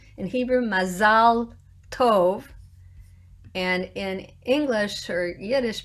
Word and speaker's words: Mazal Tov: How about Mazal Tov, which is how you say it in Hebrew? What do people say? Mazel tov. Mazel tov. Mazel tov sort of has a f on the end, right?